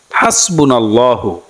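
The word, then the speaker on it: حسبنا الله: কষ্ট হয় আপনারা বাংলাতে দোয়াটি এভাবে শিখতে পারেন হাসবুনাল্লাহু ওয়াকিল হাসবুনাল্লাহু ওয়াকিল নেয়ামাল মাওলা নাসির নেয়ামাল মাওলা নাসির উচ্চারণটি আবার বলে দিচ্ছি হাসবুনাল্লাহু ওয়াকিল নেয়ামাল মাওলা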